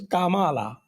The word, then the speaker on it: Kamala: नहीं, it is pronounced as Kamala.